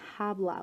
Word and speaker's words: habla: lad we have hablo hablas habla remember the H is silent we aren't saying habla we're saying habla hablamos